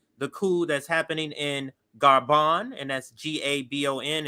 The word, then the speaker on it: Gabon: cool that's happening in garban and that's g-a-b-o-n it's it's pronounced French in a French way so garban is the name of the country let's listen here France